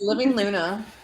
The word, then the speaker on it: Living LUNA: right is that how you say it yes living Luna living loving unashamed and nurturing authenticity boom I